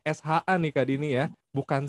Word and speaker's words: SHA: Dibacanya SHA nih Kak Dini ya, bukan Iya, SA.